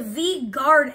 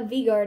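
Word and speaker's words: V Guard Energy: but regular version also Haley you pronounce it wrong it's a vguard energy I've never seen it before said a vard energy you said a varar energy and then I got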